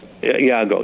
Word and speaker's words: Iago: Was it Iago? Is that how it pronounced? Iago, yeah.